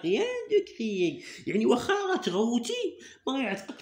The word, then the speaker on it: crier: Ça ne sert à rien de crier. Alors regarde bien. Crier. Cri. Alors ER. Regarde bien ça là. ER se prononce E.